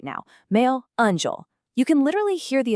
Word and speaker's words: meu anjo: The phonetics for this one are meu anjo. I specifically want you to emphasize that smooth anjo sound right at the end. It just has this incredibly soft, romantic vibration to it.